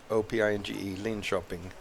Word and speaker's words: Linköping: It's spelled Linkoping, Linköping. Perfect, makes sense.